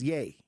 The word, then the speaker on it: Ye: Y-E is Ye. Y-E is Ye now? Because if you look at his name, Kanye, the Y-E is the Ye.